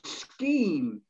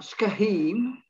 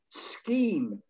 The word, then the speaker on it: scheme: the next one is scheme it's not skahim scheme no pronunciation or uh